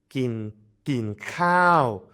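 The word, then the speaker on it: กินข้าว: example, to eat is kin khao. So kin khao is falling long tone.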